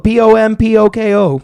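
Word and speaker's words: Pom Poko: Pompoko. Pompoko. See, 2 words. That's why I'm glad I asked that, because I thought it went P-A. It's P-O. Pom. Pom. Poco. Poko. Pompoco.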